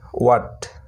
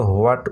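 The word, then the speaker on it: what: এছাড়া কতগুলো শব্দ আছে যেখানে এইচ সাইলেন্ট থাকে, যেমন ডাব্লিউ এইচ এ টি, ওয়াট, ওয়াট, এখানে কিন্তু হোয়াট উচ্চারণ না এটার, ঠিক আছে, ওয়াট।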